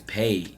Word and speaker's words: PAAD: if you read it some people pronounce the pad but i want to let y'all know right now it's paid you're getting paid so the logo the